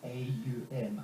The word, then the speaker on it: Aum: It's pronounced more like A-U-M, Aum.